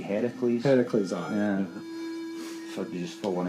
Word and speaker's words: Heracles: So you know, Hercules is actually the Roman pronunciation. The original Greek would be Heracles.